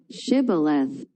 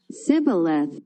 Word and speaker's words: Shibboleth: If he replied, "No," they said, "All right, say, Shibboleth." If he said, Sibboleth, because he could not pronounce the word correctly, they seized him and killed him at the fords of the Jordan.